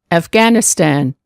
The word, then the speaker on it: Afghanistan: G, Afghan, Afghanistan.